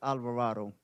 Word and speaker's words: Alvarado: sir you uh Alvarado how do you say your last name it's Alvarado okay they messed up on